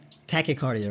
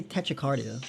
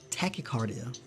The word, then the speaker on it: tachycardia: how to say it tachycardia right yeah okay why do I say Tetra cardio that's not how you say it I don't know where I got that from tachycardia it's caused by one